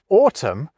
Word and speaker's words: autumn: So in the case of the word autumn, we drop that ungainainely N. Yet with autumnal, both letters get their time to shine.